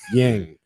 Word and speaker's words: Yeung: I was young J, YEUNG, Yang.